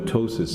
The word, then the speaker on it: ptosis: new nands okay and a lot of people have problems pronouncing the word ptosis just remember the p is silent if you can't remember how to pronounce it just remember a few pieces of toast okay so do we